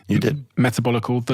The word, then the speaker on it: Metabolical: book and I also have this book called metabolical did I pronounce that correctly you did metabolical the L and the lies of processed food